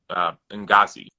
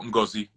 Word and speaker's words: Ngozi: Her name is Ngazi, or Ngozi, if you want to use the accent on it, Ngozi, and that means blessing.